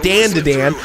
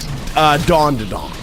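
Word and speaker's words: Dandadan: By the way, King gave me so much shit about it because supposedly I was pronouncing it wrong. Because I was calling it Dan to Dan the way it's fucking spelled.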